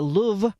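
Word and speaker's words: Louvre: The Paris Palace turn museum where the jewels were stolen is the Louv with a very soft pronunciation on the weight loss drug is called Mjaro, which a lot of people can't seem to get right.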